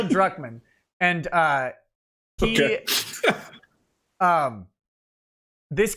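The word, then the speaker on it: Druckmann: a guy named Neil Kuckman. Uh, and Drman, I say it wrong every time. It's Neil Duckman.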